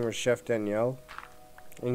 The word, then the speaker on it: Daniel: But the teacher I had for that, his name was Chef Daniel, and you had to say his name like a French person would say it.